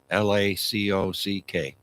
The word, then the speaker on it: Lacock: It's spelt the way it sounds, Lacock.